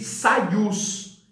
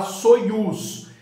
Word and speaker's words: Soyuz: Esse terceiro programa para 3 cosmonautas, ele é chamado de Soyuz. Em português a gente fala Soyuz. A pronúncia correta é Soyuz.